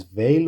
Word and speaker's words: Weil: Her name is pronounced roughly Simone Weil in French. Veil sounds like vey with a soft V, not while or veal.